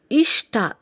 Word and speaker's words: ಇಷ್ಟ: ಹೃದಯ ಓಕೆ ಅದಾದ ನಂತರ ಇಷ್ಟ ಷ ಕಾರಕ್ಕೆ ಟಕಾರ ಇರೋದು ಷ ಕಾರಕ್ಕೆ ಟಕಾರ ಇದ್ದಾಗ ಷಟ ಆಗುತ್ತೆ ಹಾಗೇನೇ ಕಷ್ಟ ಕೂಡ ಷ